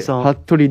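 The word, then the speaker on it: 服部: たまに出会う名字、福のブーと書いて、服部さん。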